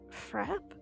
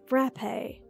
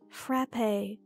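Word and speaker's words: frappé: what it's pronounced as frap no no the right pronunciation is frappe no no it's not frap like crap it's frappe like risque anyway it is frappe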